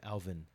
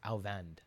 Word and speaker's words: Alvand: with it, and then he actually was like, "Yo, it's Alvand, like Alvand." Right? So I was like, "Okay, let me try my best to make sure that every time I say his name I say it the way that he says it.